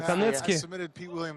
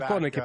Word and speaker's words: Konecke: Ну и какую-то попытку выйти на болевой, на ногу демонстрировал Дэн Конецки. Точнее, Дэн Коnicki, простите. Достаточно витиевато пишется его фамилия. Но будем ее произносить так, как объявили перед боем. Дэн Коnicki.